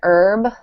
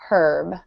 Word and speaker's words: herb: different English accents um in American accents the H in herb is silent um so we usually say un herb but in British accents the H is pronounced so they'll say a herb um and then the